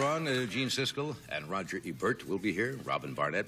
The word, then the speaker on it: Ebert: we have gene siskel I pronounce Rogers last name wrong it's Ebert right Ebert Ebert I said I said and